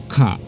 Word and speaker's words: か: But notice the intonation, minasan. Ka. Ka. Ka. No prolongation.